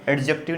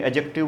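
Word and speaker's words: adjective: देखो इस वर्ड में डी क्या होता है, साइलेंट। एडजेक्टिव नहीं बोलेंगे, एडजेक्टिव बोलेंगे।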